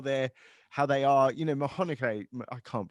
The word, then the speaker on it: McConaughey: You know, Mcconaughey, I can't pronounce his name properly. Someone say it for me, please. McConaughey.